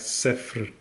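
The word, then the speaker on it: صفر: is pronounced something like safely safely so the trick is to say safe and then add like a rolling R afterwards so set free safely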